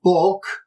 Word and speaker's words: boc: So the O of bok, meaning book, is long, while the O of rocht, meaning wrought or made, is short.